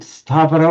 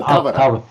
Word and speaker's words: Tavara: And in Tamil, do you pronounce it Stavara or no, Tavara.